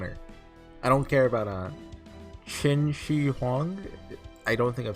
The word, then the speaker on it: Qin Shi Huang: I don't care about Qin Shi Huang. I don't think I'm saying that right, but I'm close, maybe? I think it's pronounced Chin, not Kin. I don't actually know.